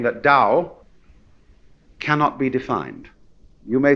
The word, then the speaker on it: Tao: decide how it's pronounced we should have spelled it d o w you see but it's Tao and this character here